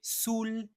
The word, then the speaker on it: saoule: Mais attention, au féminin c'est saoule et sou on prononce bien le l.